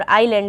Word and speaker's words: island: आइसलैंड निकल जाता है लेकिन आइसलैंड जो है ये कंट्री है ये आइसलैंड है और आईलैंड इसको कहते हैं एस इसमें साइलेंट रहता है ये जो फेरो आइलैंड